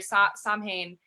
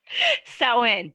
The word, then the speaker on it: Samhain: like around Halloween or Samhain, like it wasn't maybe as accurate what we were what was that? Samhain. I knew I'd mispronounced that.